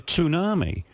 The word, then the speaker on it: tsunami: And I said to my wife, "You know, they're carrying on like they're expecting a tsunami."